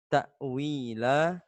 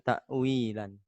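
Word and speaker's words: تَأْوِيلًا: adalah mati What dan cara membacanya adalah takwila bukan takwilan bisa dimengerti semuanya baik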